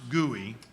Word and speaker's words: GUI: of stem to steam often pronounced gooey GUI is short for what